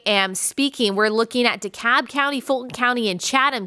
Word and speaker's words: DeKalb: a british word but i did know it's decap because i used to live in georgia too and i remember that so we're waiting on dekalb and fulton and chatham as i am speaking